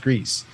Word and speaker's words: Gris: I think we so Greece is like in Spanish it means gray so it's pronounced Greece I'm sure there's probably